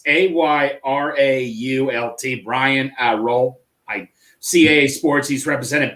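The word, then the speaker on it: Ayrault: pronouncing names it's Brian it's dealt can you pronounce it's a-y-r-a-u-l-t Brian uh roll I CAA Sports he's represented boat Joey Bosa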